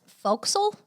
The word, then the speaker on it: Forecastle: So, actually, it's pronounced Forecastle.